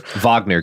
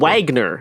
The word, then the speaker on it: Wagner: Um, a German composer Vagner Garrison. It's important to pronounce things correctly. Wagner.